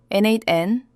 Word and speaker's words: n8n: NateN, they bear, make.